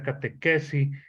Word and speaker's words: catechesi: Mire, la palabra catecismo es una palabra griega, proviene del griego catequesi, se escribe catechesi, se pronuncia catequesi, que quiere decir enseñanza.